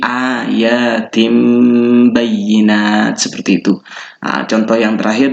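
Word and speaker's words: آيَاتٍ بَيِّنَاتٍ: Kemudian yang tanwin kasroh di sini ayatin bayyinat. Ini kan tin bayyinat. Kalau kita tidak tahu hukumnya, tapi kalau sudah tahu hukumnya, maka di sini bukan tin bayyinat tapi tim. Jadi berubah ke ba. Jadi cara bacanya adalah dimasukkan dengan cara mengganti huruf ba-nya ini menjadi suara min. Jadi ayatim bayyinat, seperti itu.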